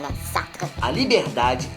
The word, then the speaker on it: Sartre: Já para Jean-Paul Sartre, Gostou da pronúncia, né? Sartre.